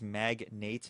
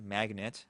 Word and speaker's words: Magnate: That is Magnate, not Magnet. Okay, I called this the Magnet for the first 3 videos until someone corrected me, so I felt really stupid. This is the Magnate, and it is a